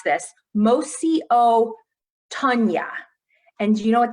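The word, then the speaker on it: Mosi-oa-Tunya: So local people call Victoria Falls, and I'm going to do my best to pronounce this, Mosi o Tunya.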